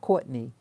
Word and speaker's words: Courtenay: Vera Courtenay, or some people pronounce it Courtney.